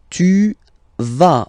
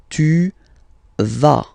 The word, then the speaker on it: tu vas: Tu vas. Final S doesn't exist. Tu vas.